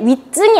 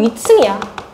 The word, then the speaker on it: 위층: 근데 발음할 때 윗증이 아니잖아. 뭐 윈eft능 더 아니고요. 니은 알 수도 없고요. 얘네들은이 치이 거센 소리잖아. 그냥 얘는 발음이 위층이야. 위층. 위층이라고.